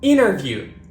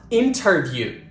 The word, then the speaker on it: interview: pronounce t at all when T is followed by an N it is usually dropped we do not pronounce it for example Center not Center interview not interview and internet not internet I'm in a bit